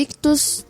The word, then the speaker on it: ICHTHUS: Lembrando que Ictus se escreve ICHTHUS. Então tem 2 Hs, tá bom?